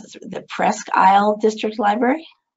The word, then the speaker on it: Presque Isle: She's a library director at, I didn't see how to pronounce this, the Presque Isle District Library? Presque Isle District Library.